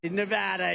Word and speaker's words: Nevada: And you always have to say it correctly. Nevada. You got to call it Nevada.